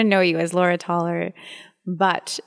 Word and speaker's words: Taler: know you as Laura toer but it's just so beautiful can you tell us again well I come from Romania and in Romanian you would pronounce my name laa taler lovely and my last